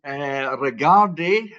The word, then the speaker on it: Regarde: It's a horse called Regarde, if we're going to give it the correct pronunciation.